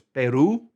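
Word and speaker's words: Perú: Peru is the same in English, but it has an accent on the U, so it's Peru. Peru, you have to stress that U.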